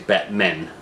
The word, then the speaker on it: Batmen: the Batmen eternal so I didn't say it correctly it's Batmen so this is continuing